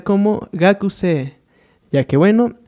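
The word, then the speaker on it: 学生: Para nuestra primera palabra se va a pronunciar como gakusei, ya que bueno, aquí cumpliendo la regla tenemos nuestra vocal larga, de igual forma que esta de acá, teniendo en este caso profesor como sensei.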